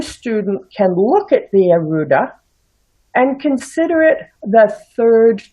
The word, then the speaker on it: Arudha: It's Arudha instead of Arudha.